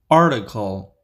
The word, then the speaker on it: article: article article rticle article this T is pronounced as D in the middle especially in American English article article article Example